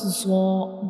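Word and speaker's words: ظ: So when we pronounce zaw, the tip of the tongue will touch the edges of upper two front teeth.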